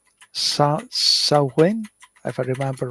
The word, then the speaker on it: Samhain: And I can never get the pronunciation right. Samhain, if I remember right. Samhain, which is thousands of years old.